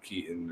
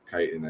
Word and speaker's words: Kiton: really, really high-end brands like Keaton or Kiton. I think someone corrected me on the pronunciation.